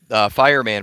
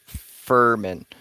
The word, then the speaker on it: Firman: phone with the company, it's actually pronounced Furman, which I think is ridiculous. So I'm going to keep calling it Fireman because I like it better. There's an I in the middle. Fur is F-U-R.